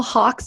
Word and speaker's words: Hawke: Joel these are little Hawks here you know working at Hawk media even though it's spelled H a w ke the hawk the bird is actually part of